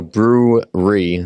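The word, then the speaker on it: Brewre: is brewery yeah um so brew re so a lot of people when when it's what's in when it's an audio thing i have to kind of spell it out so it's b r e w r e and then the r e stands for real estate but it sounds like a brewery where drink beer beer is made um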